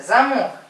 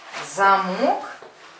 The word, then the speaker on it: замок: З, замок. Замок. Зонт. А есть такое же слово, замок, а есть замок. Падает ударение, смотрите. Замок. Очень сложный русский язык, да, оказывается. Замок. Ударение на А.